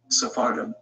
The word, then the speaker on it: Sephardim: Sephardim, as mentioned earlier, is pronounced in the plural in Hebrew, while in the singular it is Sepharad.